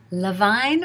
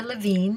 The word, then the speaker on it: Levine: but one in particular, Suzanne Braun Levine, or Levine, depending upon how you like to pronounce it, whose name I had not recognized.